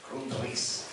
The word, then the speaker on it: Grundrisse: de los Grundrisse, me dijeron que así se pronuncia, Grundrisse, en donde se recogen trabajos de varios académicos